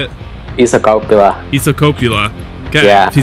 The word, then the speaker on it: Isokauppila: Isokauppila.